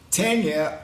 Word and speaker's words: Tanya: the one and only Tanya O'Callaghan. Hey, thank you for saying my name correctly with the A.